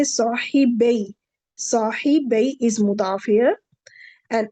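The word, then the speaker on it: صاحبا: Noon will drop. That's why there is no noon. When there is no noon, so we will, of course, we will not pronounce it, and we will say sahibay.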